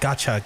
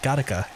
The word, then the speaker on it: Gattaca: No, it's Gattaca, right? Not Gotcha, Gattaca.